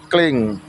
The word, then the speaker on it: cling: Jadi huruf C dibunyikan seperti huruf K, cling.